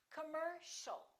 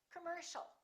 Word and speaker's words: commercial: a are both reduced so it's not calm or calm it's commercial don't say commercial or commercial it's all commercial all right let's practice